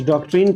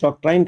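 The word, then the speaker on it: doctrine: कुछ डॉक्ट्रिन कहते हैं, कुछ डॉक्ट्राइन कहते हैं। दोनों इंग्लिश का प्रोनाउंसिएशन अलग है।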